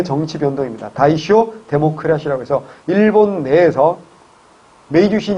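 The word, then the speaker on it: 大正: 그래서 일본 내에서 다이쇼 데모크라시, 대정 민주주의라고 합니다. 한자로 대정이고 다이쇼라고 읽습니다.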